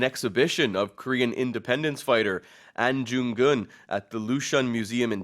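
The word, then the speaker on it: Ahn Jung-geun: an independence fighter and I do apologize I pronounced his name jungun at the beginning I didn't check the Korean spelling so my apologies for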